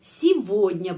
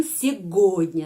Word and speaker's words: сегодня: Karena itu kata keterangan hari ini bisa harus diucapkan сегодня, bukan сегодня, tapi сегодня.